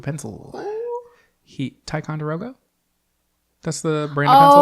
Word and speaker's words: Ticonderoga: Ticonderoga?